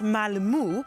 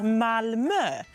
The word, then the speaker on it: Malmö: And if you're speaking English, think about the middle of the word her.